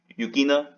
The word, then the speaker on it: Yukina: Yukina.